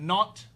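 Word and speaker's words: Nantes: France non it's not n Say Non it's pronounced not it's France non N A tes n a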